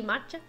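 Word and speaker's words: Macha: in the legend of matcha matcha why do I say it like that Ma like green like green tea matcha the story of matcha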